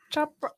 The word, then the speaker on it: Chopra: Deepak Chopra, right?